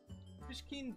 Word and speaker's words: Pishkin: I always just tell people that it's like the little cat character pushing, but with a K in it, so like a K sound.